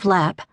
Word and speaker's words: Lepp: It was no more than a minute later that the bus driver called out, "Lepp," which he pronounced Lep as in leper, and Maura gathered her